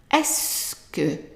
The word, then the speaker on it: est-ce que: All of this, these 5 letters are actually pronounced as S, just the letter S. And then here the U is silent and the K.